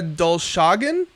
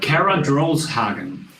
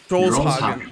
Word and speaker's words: Drolshagen: So, Kara Dolshagen of The Armed. Is that how you say her name? She's American, so the way you would say it would be the correct. Kara Drolshagen. Drolshagen.